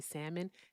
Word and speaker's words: salmon: The L, but I just say salmon. Thank you, Mr. Salmon. There we go. Salmon. I don't know. I get I get they tell me that I pronounce the L and I be like your mama.